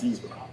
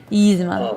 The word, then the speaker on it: Yzma: Yeah, Yzma's quite good. Yzma. It's Oh, I pronounced it something. wrong. Did I Yeah, pronounce it wrong? I don't know. Yes, Yzma. Yzma.